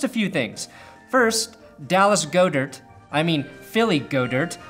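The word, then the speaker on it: Goedert: on the field and is pronounced go dirt like go-gurt even if Dallas says it Goddard watch Goddard the wards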